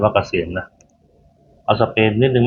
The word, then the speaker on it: AASM: หา ไม่ ยาก นะ จะ สำรอง กอง คิว เป็น ออนไลน์ ก็ ได้ Line @ AASM อ่าน ว่า เกษม นะ เอา สเปน นิด